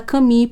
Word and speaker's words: Camus: na morte do caminho o nome dele se escreve albert camus mas se fala caminho porque ele é de origem francesa ele é franco-argelina nasceu